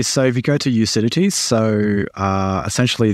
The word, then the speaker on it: Ucidity: So if you go to Ucidity, so essentially the Ucidity is spelled like lucidity, but just get rid of the L at the start.